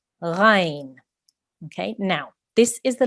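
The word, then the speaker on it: غين: So we will pronounce this letter, the name of this letter is Ghain. Okay, Ghain. It is also a thick letter, so our mouth will be rounded when we are saying this sound.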